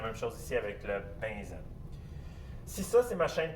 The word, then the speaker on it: benzène: Je sais que ça s'écrit benzène, mais ça se prononce benzène.